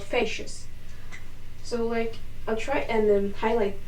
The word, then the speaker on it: facies: Now, as I told you, the flat surface is called facies, and you spell it like this. Facies.